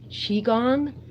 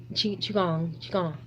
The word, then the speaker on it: Qigong: Qui-Gong, pronounced Qigong? Really? Qigong means Qigong. I wonder if I'm saying gong right. Gong. Qigong. Yeah, Qigong.